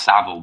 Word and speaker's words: Savile: It's pronounced Savile, but yeah, I do.